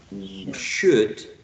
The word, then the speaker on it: should: So remember that this grapheme is not pronounced. This is not pronounced. Okay, so you say could, should, would, good, look, book, foot, put, push, pull, pull, sugar, would.